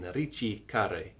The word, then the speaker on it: ricercare: It's Italian, Ricercare, rather than Ris.